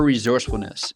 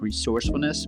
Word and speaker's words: resourcefulness: hard to explain because we should be saying it with like more of an S sound, like resourcefulness, but Americans don't say it like that. It almost sounds like a Z, like resourcefulness.